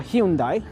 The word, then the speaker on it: Hyundai: Let's check out what Hyundai has uh on display here, or Hyundai, depending on how you pronounce it. It's either Hyundai or Hyundai. Hyundai is the Korean pronunciation.